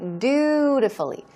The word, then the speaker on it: dutifully: Okay, dutifully. Dutifully. Stress goes on the first syllable, and it means lawfully or rightfully.